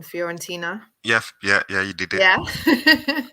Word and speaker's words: Fiorentina: So that was when he went to, again, I'm not good with my pronunciation, Fiorentina.